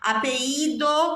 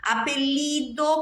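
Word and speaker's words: apellido: dos dois eles tem quatro maneiras possíveis de pronunciar os dois eles em espanhol apido como se fosse um I apelido como se fosse LH a pedido como se fosse um g e apexido como se fosse um X de novo depende do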